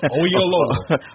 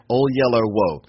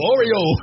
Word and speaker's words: Oyelowo: Oyelowo. Oyelowo. Yeah. I know that's how I have to remember it. Oyelowo.